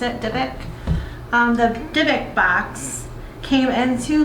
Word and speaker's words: dybbuk: I think that's how you pronounce it, dybbuk.